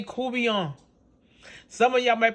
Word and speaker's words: courtbouillon: catfish koobiyon or some of you might say court bouillon because it's spell c-o-u-r-t-b-o-u-i-l-l-o-n but we put down say kubian some of y'all might pronounce it cuvion which is the people last name here in